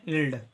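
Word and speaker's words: yield: है य ठीक है वा का उच्चारण होता है य आई ई जब भी साथ में होता है अगर आई के बाद ई आएगा तो इसका उच्चारण होता है बड़ी ई इसका उच्चारण होता है बड़ी ई एल का उच्चारण करेंगे ल ठीक है और डी का उच्चारण होगा ड इसका उच्चारण करेंगे इल्ड इल्ड का मतलब होता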